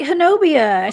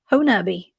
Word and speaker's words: Honobia: there i go yeah it looks like hernobia so that i i am so glad that you you told me the right way to say it i love that ho nubby yeah it's um it's